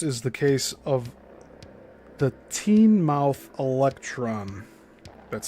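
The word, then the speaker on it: Teignmouth: Of most interest is the case of the teen mouth electron. That's spelled t e i g n m o u t h e l e c t r o n.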